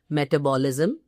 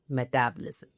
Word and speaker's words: metabolism: When you are, probably doling out advice to your clients, don't end up using the pronunciation as metabolism. It's clearly metabolism.